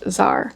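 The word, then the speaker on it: Xar: Apparently, there is a character named X A R pronounced Zar.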